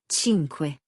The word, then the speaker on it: cinque: Sync has that soft C from Lesson 2. C before an I is a CH sound. Quattro, cinque, sei.